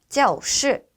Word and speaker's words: 教室: 네, 교실은 教室, 教室라고 발음하는데요. 네, 教에서 우리가 教室에서 教는요. 동사로 발음하실 때는 성조 일성으로 발음해 주시면 되고요. 네, 교실처럼 이렇게 합성어인 경우에는 성조가 사성으로 발음된다라는 거 주의해 주시면서 발음해 보도록 하겠습니다.